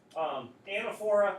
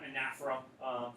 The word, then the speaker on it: anaphora: Anaphora, you also hear the term anaphora for pronunciation. Both of them are accepted. So if someone does say anaphora, you don't have to go, wait a minute, that's not how you say it. Both pronunciations, people do recognize.